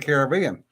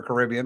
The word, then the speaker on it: Caribbean: he took it down to the Caribbean, or Caribbean, depending on your pronunciation, and started chasing drug runners It's like telling E4 to go play.